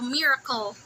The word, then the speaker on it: Miracle: Am I even pronouncing that right? Yeah, it's a miracle. Miracle. Yeah, like a miracle whipped. Like Miracle Whip.